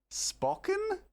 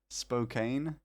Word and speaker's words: Spokane: Why are you adding an extra O? Spocken? I'm sorry, I was embellishing to make it sound nicer, evidently. It's called Spocken. Spokane.